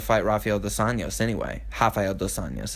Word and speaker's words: Rafael dos Anjos: Rafael dos Anjos is actually how you pronounce it. They do them R's as H's in Brazil.